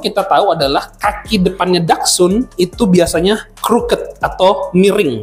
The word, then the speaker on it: Dachshund: Dan sebenarnya nama Dachshund-nya Dachshund ya, bacanya adalah Dachshund. Dachshund itu terdiri dari 2 kata Jerman ya, Dach itu artinya adalah badger, dan Hund itu artinya adalah anjing atau hound ya.